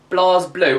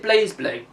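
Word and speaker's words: BlazBlue: And that is Blas Blue. Or is it Blaze Blueue? I like saying Blaze Blueue, but I think it is pronounced Blas Blue, is it?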